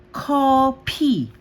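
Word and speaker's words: 코피: PH pa rin yung basa sa kanya. So ang basa natin dito ay copy. Copy. Copy. Okay kung narinig niyo ba may hangin.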